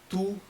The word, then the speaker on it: tout: Then tout, T is silent, le and monde.